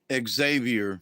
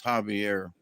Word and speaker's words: Javier: you oh did I I pronounced your name right correctly didn't I I know there are folks who probably call Xavier right but I know folks and that's your name is Javier I've also had five